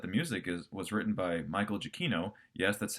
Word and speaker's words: Michael Giacchino: me is that the music was written by Michael Giacchino. Yes, that's how you actually pronounce his name.